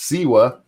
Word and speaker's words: Siwa: lot of people who are telling me it's pronounced siwa i will never remember that because i don't